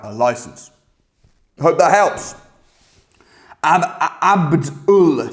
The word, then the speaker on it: Abd Ul: The reason I pronounce the name strange is because it's ABD space UL, all right? Abd Ul.